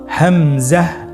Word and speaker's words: হামজা: হামজা হরফটি উচ্চারণ ক্ষেত্রে বারিক করে উচ্চারণ করতে হবে এবং এখানে টেনে পড়া যাবে না, দ্রুত পড়তে হবে। আপনারা আমার সাথে বলুন হামজা।